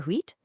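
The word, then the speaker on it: huit: The same kind of thing goes for wheat. You pronounce the T when counting by itself, but drop it completely if a consonant follows.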